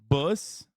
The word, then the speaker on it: Buss: Buss. It's pronounced bus, like a school bus.